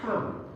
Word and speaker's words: come: It's not a. It's not o. It's a. Come.